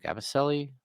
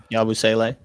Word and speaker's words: Yabusele: First of all, what is his name? Gabaselli? Why am I saying his name wrong? The Frenchman that has come over. Yeah, Yabusele. Oh, Yabusele. There we go.